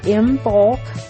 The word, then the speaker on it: Imbolc: And it is known as Imbulk or Imbul which was a Celtic festival and then spread across Europe to other places. That's why there's some different pronunciations.